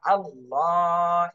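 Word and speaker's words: اللهُ: করে পড়তে হবে এরপর আল্লাহ শব্দের লামের উপরে খাড়া জবর রয়েছে এক আলিফ টান দিতে হবে আল্লাহু ইনশা আল্লাহু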